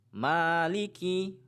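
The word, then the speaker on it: مالك: Ingat, 'ma' tidak boleh dipanjangkan. Huruf 'ma' hanya sepanjang dua harakat . Jangan membuatnya menjadi 'mali'. Tapi ' Maliki'.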